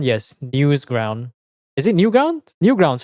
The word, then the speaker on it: Newgrounds: Newsground? Yes, Newsground. Is it Newground? Newgrounds, right?